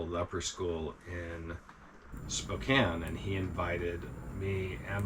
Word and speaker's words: Spokane: we also went into Spokane did I say it right Spokane Spokane it's spelled k a NE E I want you to know but a First Nation pronounce it Spokan I believe you I